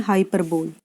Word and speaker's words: hyperbole: जैसे इसका जो करेक्ट प्रोनाउंसिएशन है वो है हाइपरबली, लेकिन हम इसे ट्रिक से याद करने के लिए हाइपरबोल प्रोनाउंस कर सकते हैं और उसी पर बेस्ड है हिंदी में ऊंचे बोल.